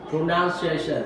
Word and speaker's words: pronunciation: Pronunciation. Okay. Do not. There is no shu here, so do not say pronunciation.